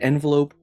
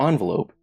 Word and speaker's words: envelope: It can either be an envelope or envelope. Either way, it's the same thing.